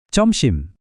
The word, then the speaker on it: 점심: Untuk siang atau makan siang kita bilang comsim.